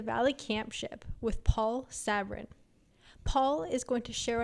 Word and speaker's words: Sabourin: Yes, my name is Paul Sabourin, for those that do understand French and can pronounce it.